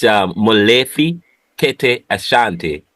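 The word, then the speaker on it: Molefi Kete Asante: Pronounce it. I know the last one is Asante, but Sorry, it's Molefi Kete Ashanti.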